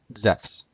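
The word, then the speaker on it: Ζεύς: And Zeus would be pronounced Zephs.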